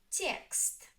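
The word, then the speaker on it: текст: Text. Text. One syllable. The stress is on Ye.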